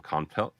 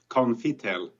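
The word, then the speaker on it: Konftel: Stefan is from Conftel. Welcome, sir. Perfect. Usually people call us Confitel, so you spell it just perfect. So there's no E there.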